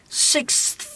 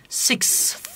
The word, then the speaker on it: sixth: Yavaş telaffuzda şu var. Bakın arkadaşlar. Sixth. Hocam bunu döverler. Mahallede beni ağzımın parçalarlar hocam. Ama hızlı telaffuzda six. Şöyle yapmam lazım. Sixth. Bu hızlı telaffuz.